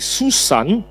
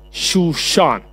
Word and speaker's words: Shushan: Pada waktu itu ada di dalam benteng Susan. Susan ini bukan nama orang sebenarnya. Bahasa ejaan asli itu Shushan sebenarnya. Di dalam benteng Shushan ada seorang Yahudi yang